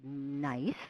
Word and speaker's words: NEISS: The Consumer Product Safety Commission has a database called NICE. It actually is spelled NEISS.